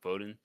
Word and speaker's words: Bodin: in the yeah, Bodin. That's Yep. how you pronounce it, Bodin.